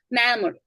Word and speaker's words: memory: memory, memory. memory, memory. memory. memory. 그쵸? 이렇게 발음된다는 거죠.